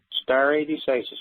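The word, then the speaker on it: stare decisis: again so I can quote it go ahead star a decisis go look it up in Black dictionary it's spelled s t a r a e star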